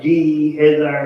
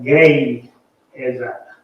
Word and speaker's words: Gehazi: I mean, sure, if anything, where it said GE, I would have like G Hezi or something, but it's supposed to be called a gay Hezi. The GE is a gay Hezi.